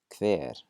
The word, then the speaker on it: hver: First of all, the combination HV doesn't look normal, that's for sure, but it's not terribly difficult. We're going to pronounce it like a KV.